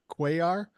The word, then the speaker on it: Cuellar: And by the way, the only reason I know how to pronounce that name, Cuellar, is because back in the 70s, I was a baseball fan and there was a Baltimore Oriole named Cuellar.